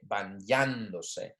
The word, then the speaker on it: bañándose: Okay, bañándose.